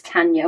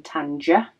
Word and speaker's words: Tanja: So she said her first name is Tanya, pronounced as Tanya with a Y instead of a J. So it is Tanya rather than Tanja.